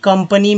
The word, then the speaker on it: company: तो COMPANY, तो ए को यहाँ पर अ बोला गया है, यानी कि कंपनी में ए को अ बोला गया।